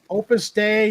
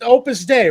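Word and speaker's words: Opus Dei: It was Opus Day, right? And Opus Day. Opus Day, I think, is what it's called. Opus Day. Oh, okay. They were prus, but it's pronounced like day.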